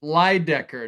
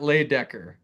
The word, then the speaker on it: Lydecker: It's Everest Lydecker, not Laydecker.